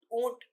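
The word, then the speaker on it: ऊँट: आप देखो, फेस, मुंह पर आवाज उच्चारण करो, और उच्चारण करके पता चल रहा है कि हमारी वायु जो है बाहर की तरफ आ रही है, ऊ, ऊ, ऊंट।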